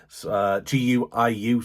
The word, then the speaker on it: Guiu: So, Sen City then are linked with Chelsea youngster Mark Guey. I think that's how you pronounce him. Obviously, we've had Mark in the past, but this one is Gui E. Guiu, sorry.